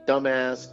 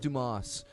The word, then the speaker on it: Dumas: the show signed Stern fan zero 1 from dumbass Texas Wow it's pronounced Dumas oh sorry Tim AHA's Texas you gotta be